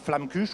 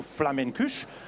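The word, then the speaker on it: Flammekueche: Non non flam cuche c'est c'est une déclinaison du du mot alsacien qui à flamur on dit en alsacien donc ça devient flamcûuche ou flamencuche. On peut dire aussi tout simplement tarte flambée.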